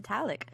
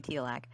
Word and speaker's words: Tilak: I'm leaving now with my handler to go talk to Talik. I got his name wrong again. It's supposed to be Tilak.